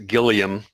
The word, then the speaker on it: Gilliam: run by Jonathan Gilliam he hates how I pronounce his name he says it's a Gilliam Jonathan Gilliam and he's come a long